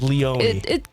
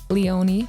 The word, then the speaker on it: Leony: right pronunciation Leone is Leon it kind of depends where you are because in Germany everyone says Leoni but like the international version I guess it's Leone so you're totally fine